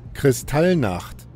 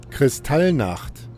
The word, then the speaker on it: Kristallnacht: So I found it pronunciated, so I would get it right. Here it is. Kristallnacht. Kristallnacht.